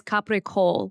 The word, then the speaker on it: capicola: Gabagool is not real. What they're saying is capicola, which is a sliced deli meat.